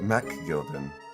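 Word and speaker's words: McGilded: make sure that when you say MC you pronounce it as Mac Al it'd be ma gilded when he says it Mac Gilden I have no idea actually thank you v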